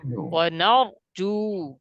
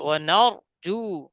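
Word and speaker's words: ونرجو: وإليك نسعى ওয়া নাহফিদু ওয়া নারজু। হ্যাঁ, ওয়া নার এরকম না, ওয়া নার হবে না, রপুর হবে, ওয়া নারজু রাহমাতাকা رحمتك ওয়া নাখশা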